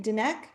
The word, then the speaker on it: Dinek: going to have dinner uh i hope i pronounced your surname correctly dineck yeah all good wiki yeah yeah dineck is